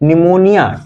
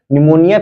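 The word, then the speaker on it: pneumonia: पी का मतलब फिर दूसरे पी का मतलब निमोनिया पी साइलेंट हो जाता है तो प्लूरोनिक आर्गनिज्म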